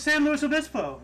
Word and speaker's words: San Luis Obispo: I'm not good at pronouncing right now. It's San Luis Obispo.